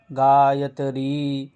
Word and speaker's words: গায়ত্রী: তাহলে এখানে গায়ত্রী, ত্রিটা হলো দ্বিমাত্রা, তাই এটা দীর্ঘ উচ্চারণ হবে, গায়ত্রী গায়ত্রী।